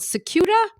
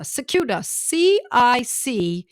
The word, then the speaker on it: Cicuta: So the medicine tonight that we're going to be talking about is a fun one to pronounce. It's called Cicuta virosa. Cicuta, Cicuta. That's the first word, Cicuta.